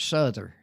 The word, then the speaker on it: Souther: Well, now my distant cousin, they pronounce it Souther. Yeah. But it's the direction south with the ER.